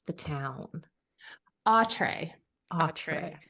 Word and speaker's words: Autre: pronounce the town? Autre.